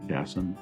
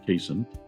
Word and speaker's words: Cassin: this is the Cason I think it's pronounced Jason as opposed to casein it's a interesting brook